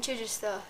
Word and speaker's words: Chichester: Chichester. Chichester. Chichester. Chai. It's like Chichester. Chichester, but put together.